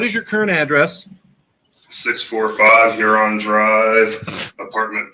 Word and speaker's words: Huron: 645 Huron Drive, Apartment B, Heath, Ohio, 430. Pronounced urine, but all right.